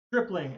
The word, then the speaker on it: Stripling: Stripling, as in strip club.